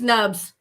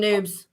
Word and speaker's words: Nubs: Yeah, I think it's Nubs. I called him Noobs. Oh. And he said, I can't believe you taught Crypto Grady my name wrong.